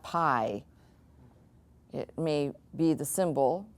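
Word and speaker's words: πι: finished this letter here I've heard this butchered a thousand times in 20 different ways this letter here is exactly the way it looks phonetically this is what it is it's P so if you can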